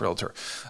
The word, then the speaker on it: realtor: They're making it multiple syllables, right? And it's realtor. I wish that designation would